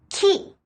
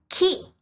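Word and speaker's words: 木: By itself, we pronounce it ki, which means tree. Ki.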